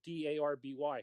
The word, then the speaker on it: Derby: the internet you know d-a-r-b-y couldn't find it no and they said do you mean d-r-b-walk that's derby there's they pronounce it darby where's the a in d-e-r-b-y well it's the name